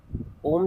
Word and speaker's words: ओम: आ ओम चटिंग में आपको तीन स्वर निकालने हैं। अ फिर ओ फिर हमिंग साउंड म तो इस तरीके से आपने करने हैं।